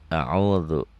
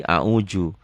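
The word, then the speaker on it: أعوذ: A'udhu. Nah ini zal ini gitu. Ini seringkali orang Sunda a'udhu, kekerasan. Kalau orang Betawi seringkali a'uju. Orang manapun kalau bacanya sudah benar a'udhu zal.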